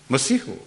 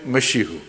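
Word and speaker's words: مسيح: Masihu. Because the Kashmiris tend to pronounce Sin as Sheen. So instead of Masihu, they say Mashihu.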